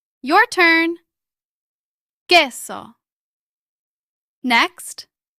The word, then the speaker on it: Queso: Queso. Remember that the U is silent. Your turn. Queso.